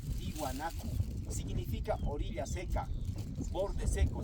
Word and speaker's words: Tiwanaku: Esta palabra originalmente se pronunciaba Kia Huañacu, como me escuchan a mí, Kia Huañacu. Durante la época colonial este término fue castellanizado, solamente se escribe así, de esta manera con W, Tiwanaku.